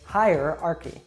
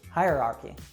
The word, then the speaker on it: hierarchy: say that word so you probably know the word high like something is up high as opposed to low and then if you want to say the comparative that higher so it's very similar to that so you'd say hierarchy hierarchy something else that can